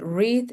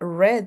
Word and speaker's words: read: You're going to say read in present, but you have to say read in past.